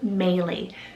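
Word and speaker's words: Maelie: that was sent in is melee spell m-a-e-l-i-e melee gorgeous breton rooted name meaning princess next i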